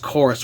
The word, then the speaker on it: Chorus: is weird though that it's spelled with a V but it's actually pronounced chorus with a u so I don't know